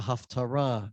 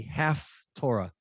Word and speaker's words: haftarah: not really learned the half torah she spell it h-a-l-f half torah that's not what the word haftarah means aftarah you can hear the similarity comes from three hebrew